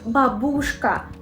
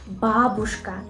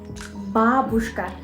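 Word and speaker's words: бабушка: they make a very big mistake in the pronunciation do you know which one they say Babushka which is absolutely incorrect we say Babushka Babushka the first syllable is dressed I can say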